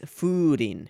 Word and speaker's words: furin: Oh, and it's furin. It's a long U or a double U if it's romanized.